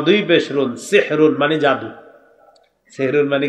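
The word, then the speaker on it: سَحْرٌ: সাহারি কি খাওয়া সাহারি এই সাহরুন এটা সুন্দর ভাবে উচ্চারণ হবে হ্যাঁ সাহরুন সিন হা জবর সাহ র দুই পেশ রুন সাহরুন এটা হলো আমরা ওই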